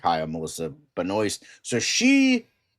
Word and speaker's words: Benoist: Um but technically Dan is right. It is supposed to be Benoist, but uh Melissa Benoist, cuz I heard it from her mouth, cuz she was doing an interview, she's like, "Hi, I'm Melissa Benoist."